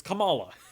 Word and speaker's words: Kamala: as how to pronounce her name it's it's kamala that's how you pronounce it um but yeah no um i